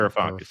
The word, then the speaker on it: Varoufakis: Varoufakis, yeah, that's it.